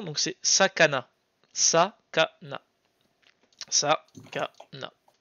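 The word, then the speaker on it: さかな: la prononciation, donc c'est Sakana. Sakana. Sakana. Ça fait beaucoup de A. Oui, bah il y a trois syllabes en A.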